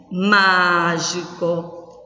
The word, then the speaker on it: mágico: Nas palavras pêssego, mágico, relâmpago. Vamos lá. Pêssego. Qual é a sílaba forte? Pés. Na palavra mágico, qual é a sílaba tônica? Má.